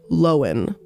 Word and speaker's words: Lohan: and that's lindsay lohan sorry lowen i didn't know that we've all been pronouncing her name wrong by the way it's lowen lindsay lowen so jared leto and